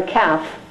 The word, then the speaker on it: calf: You put 2 lines under the L, or calf, right? Baby cow, the calf. A silent letter is underlined twice.